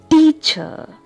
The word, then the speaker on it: teacher: Teacher, teacher. Here I am giving stress on the first syllable, T.